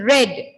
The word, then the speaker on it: read: It is in past tense form, so it should be read as R-E-A-D, read.